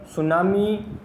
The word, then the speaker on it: tsunami: See, you can see that the spelling of tsunami start from T, while when we speak the pronunciation is tsunami, that is S, not T. So, and this is very important for us that we should know about the pronunciation of the spelling. It is starting with T, but we have to pronunciate it with as tsunami.